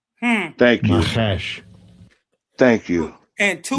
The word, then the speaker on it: Nachash: Well, let's pronounce the word. Watch. Strong's H5172. Nachash. Thank you. Nachash.